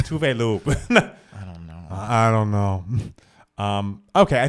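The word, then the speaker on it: Tove Lo: Tell us how to pronounce Tovlo's fucking name. No, we know. It's Tuvelu.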